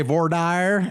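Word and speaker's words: voir dire: questioning and now it's time for the individual Vader or how do you say it Julia vad depends on the person depends some people say vire down in Texas but um so in this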